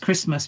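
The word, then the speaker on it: Kiritimati: Christmas Island, which is it is now known as uh well, it's still pronounced Christmas, but it's Kitim Matti if you want to write it out in in English lettering, but it's still pronounced Christmas.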